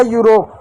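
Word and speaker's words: Europe: हो गया यूरोप। आप कहोगे ई का क्या? ई किसी भी शब्द के अंतिम में आता हो तो साइलेंट होता है, उसको नहीं पढ़ा जाता है।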